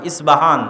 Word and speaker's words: ইস্পাহান: আমরা প উচ্চারণ করি ইস্পাহান আরবিতে এটা উচ্চারণ হয় না আরবিতে হয় আল আসবাহানি বা উচ্চারণ হয় ইসবাহান বা আসবাহানি সেখান থেকে 70 হাজার